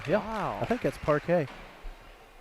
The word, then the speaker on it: parquet: I think that's parquet. Spelled with a Q and a U, parquet.